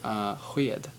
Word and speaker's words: sked: But same thing with the word sked, or sked. It's spoon, but you can pronounce it either way.